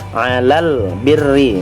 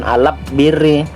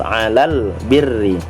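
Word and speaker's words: الْبِرِّ: nya dibaca dengan jelas contoh Ilal birri bukan alap diri tetapi lalunya dibaca dengan jelas Alal birri kemudian nah al-khoeriyah bertemu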